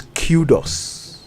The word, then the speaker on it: kudos: no more no more kudus it's Kudos even the footballers name